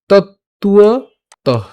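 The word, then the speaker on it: তত্ত্বতঃ: এটা উচ্চারণ হবে কার মতো? উয়োর মতো। সো আমরা এভাবে উচ্চারণ করব না, উচ্চারণটা এভাবে করব তৎ তুয়ত। খেয়াল করুন যেভাবে আসতেছে, তুয়, তত্তুয়, তত্তুয়ত, সোজা তত্তুয়ত, তত্তুয়ত।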